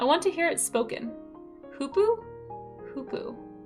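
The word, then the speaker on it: hoopoe: Hoopoo? Hoopoo. Ooh as in goose.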